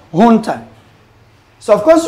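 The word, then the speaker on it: junta: hun Hunter is pronounced Hunter so of course you see letter J there but it's not pronounce as J here Hunter Spanish origin the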